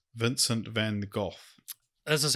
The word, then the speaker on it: van Gogh: this is a minute 20 video go Vincent van Gogh I'm cutting that's how you pronounce it I just cut so you just